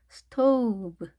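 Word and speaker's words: stove: 스토브, 스토브. 자, 끝에 있는 발음되지 않았습니다. 브입니다. 브. 자, 비로 하지 않도록. 그러니까 스토브 이렇게 입술을 닫은 상태에서 발음하는 것이 아니라 자, 열려 있죠? 스토브. 열은 상태에서 발음하셔야 되겠습니다.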